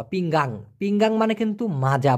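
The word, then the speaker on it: pinggang: হচ্ছে দেখুন খেয়াল করে পিং গাং মানে এই এন এর পরে আরেকটা জি দেওয়া পিঙ্গাং পিঙ্গাং মানে কিন্তু মাজা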